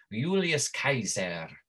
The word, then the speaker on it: Julius Caesar: But it's pronounced not J, it's pronounced Y, right?